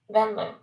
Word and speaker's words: Venlo: Oh, in the background, you were right. Venlo. Venmo? That's how it's pronounced, Venlo. Venlo. Venlo. I didn't see the L in there. That's what I saw. I saw Venyo. So, it's an L. So a Venlo. Venlo. Minor. Venlo. That's correct.